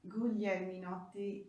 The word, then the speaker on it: Guglielminotti: But anyway, I am Guglielminotti.